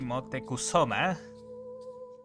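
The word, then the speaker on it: Motecuhzoma: If, assuming the pronunciation in Wikipedia is alright, it should be Motekusoma, the name.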